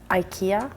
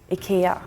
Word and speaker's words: IKEA: We pronounce the E very IKEA, very like hard and long.